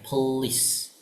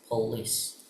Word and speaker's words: police: Nah, untuk polis please cara bacanya please mirip-mirip kayak please cuman ditarik ya. Police. Police.